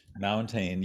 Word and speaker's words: Mountaine: I think Mountaine, can I pronounce, pronounce correctly? Very close. Mountaine, yes.